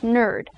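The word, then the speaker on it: knurd: Now, in words such as night, the K is not pronounced, so in this instance, the K wouldn't be pronounced, so it would be pronounced nerd.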